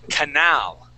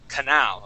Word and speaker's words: canal: okay so uh class the accent is at the end of the word okay it is canal canal okay so the difference would be Canal or canal and the the proper way is Canal okay so uh try